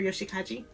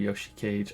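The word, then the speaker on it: Yoshikage: to Yoshi cage or Yoshi Kaji I said it wrong again my name is Yoshi cage I'm 33 years old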